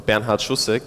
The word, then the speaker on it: Bernhard Schussek: My name is Bernhard Schussek, or Bernhard Schussek would be the German pronunciation.